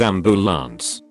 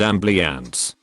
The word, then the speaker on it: ambulance: hate when people who work on ambulance can't pronounce it as ambulance it's not am bleah ants my wife hates when